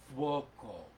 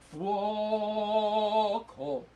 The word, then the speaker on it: fuoco: find, like the word fuoco, F-U-O-C-O, fuoco. In that case you actually sing the second sound. It's uo, ooh-oh, and you actually sing fwoko.